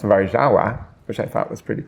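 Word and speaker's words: Warszawa: in the city Warsawa, which in Polish is pronounced varawa, which I thought was pretty cool.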